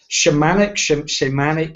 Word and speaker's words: shamanic: I hope I say this correctly, is it shamanic healer? I probably mispronounced that as well.